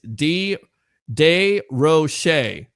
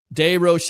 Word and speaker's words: De Roche: You still say my name wrong. It's De Roche. De Roche.